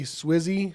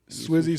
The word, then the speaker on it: Swizzy: It's DJ Swizzy. Swishy. Swizzy. Swift. Like Swiss Beats.